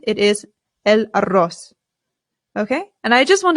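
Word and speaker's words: huevo: the word for egg the H in Spanish remember is always silent always always always I always hear Americans Sayo and that is not correct it is El good okay let's get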